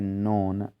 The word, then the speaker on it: known: line में नॉट known1 इसमें के को हम नहीं पड़ते सो अमित को कहते हैं नॉन एक मींस के केस में साइलेंट लैटर है इसी तरह फोर्थ लाइन